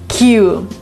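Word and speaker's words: queue: There is a word Q. And it actually has 5 letters, but it's pronounced the same way as its first letter. Q means line.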